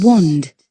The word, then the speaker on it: wand: So we say in British English it's wand. Wand. But in American English this is wand. Wand. Shall we listen to that? Wand. Wand. Wand with a long a sound in American English, but in British English with a short o sound.